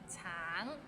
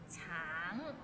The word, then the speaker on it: 橙: Tang, it means orange, but some people might find it difficult because the end has a little ng, so it's a bit of nasal sound. Tang, tang.